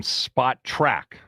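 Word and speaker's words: Spotrac: Michael Janetti from Spot Track, that's the correct pronunciation of the salary cap and player contract site.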